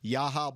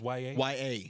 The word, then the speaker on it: Yahya: YA says YA. YA. Like that's how it's spelled. It's YAHYA, and it's pronounced YA.